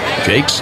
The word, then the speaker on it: Jacques: is over three jake's out of manhattan college throws the pitch it's way outside 1-0 mentioned this the other night jake's is spelled j-a-c-q-u-e-s looks like it should be jacques something but it's pronounced